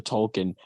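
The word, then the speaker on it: tulkun: whales they're not the whales they're called the Tolkien you pronounced it wrong you pronounced it wrong also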